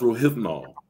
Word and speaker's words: Rohypnol: So it's pronounced rohypnol.